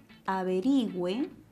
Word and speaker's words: averigüe: Se puede conjugar averigüe y el acento está en la penúltima sílaba, ya que es una palabra grave.